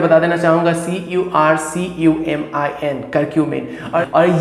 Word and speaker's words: curcumin: जी हाँ दोस्तों, प्रोनाउंस और स्पेलिंग जो है मैं बता देना चाहूंगा CURCUMIN, करक्यूमिन।